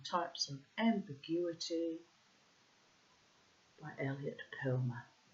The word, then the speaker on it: Perlman: Ambiguity by Elliot Perlman, or Perlman. You probably pronounce it Perlman. I have a habit to, Germanify things because my mother was, after all, German. So there's a reason why things that sound like they should be German get given German pronunciations.